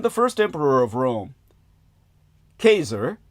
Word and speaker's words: Caesar: When the first emperor of Rome, Kazer, that's the correct pronunciation in the Latin from whence we derive the word Kaiser and ultimately the word Thar, the savvisization thereof.